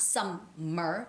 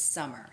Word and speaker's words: summer: it's summary summary it's not some mer but it's summer summer as if there's only one n okay all right so